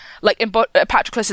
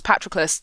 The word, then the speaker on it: Patroclus: 2004 with Brad Pitt, which is why I pronounce Patroclus that way, even though I think it's wrong, because the film does, and that's where I learned it's Patroclus in the audiobook.